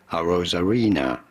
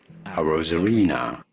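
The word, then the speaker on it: Arozarena: in America it is generally said as Randy a rosarina Randy a rosarina yeah that's how a rosarina a Rosena Reena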